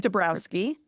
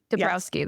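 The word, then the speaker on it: Dąbrowski: yes I to a d and I can't pronounce it but I just learned this IDE and I really like it debrowski debrowski there we go yeah um and the theory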